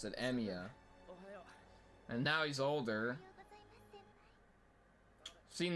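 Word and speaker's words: Emiya: is that is that okay that's how you pronounce it emia and now he's older seen this girl in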